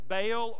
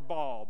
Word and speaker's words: Baal: and the other is pronounced two different ways baal or ball b-a-a-l neither are gods they're